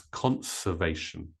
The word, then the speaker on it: conservation: with the word conservation it can be tricky to pronounce because it sounds like conversation but no it's conservation okay number four pressure